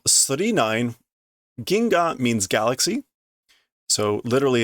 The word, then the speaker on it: 999: instead of pronouncing 999 the pronunciation in the title is 39 as in three nines so there we go